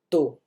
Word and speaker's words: tô: Esse tô, obviamente, a gente vai pôr acento circunflexo. Então, é o caso em que eu não vou usar a pronúncia U, né? Eu vou usar a pronúncia O, ok? Então, é o caso do tô.